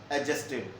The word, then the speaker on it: adjusted: So not will be adjusted, the word is adjusted, d is silent, adjusted, the word will be adjusted between the word not will be adjusted between will and have.